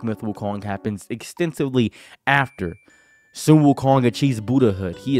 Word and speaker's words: Sun Wukong: this is Sun Wukong this is Sun Wukong no it's Sun Wukong that's the main reason behind this it's Chinese phonetics learn different languages learn at least to pronounce things correctly roll your RS When You Say My